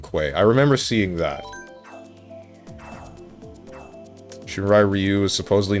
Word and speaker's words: Shirai Ryu: It's pronounced Shirai Ryu.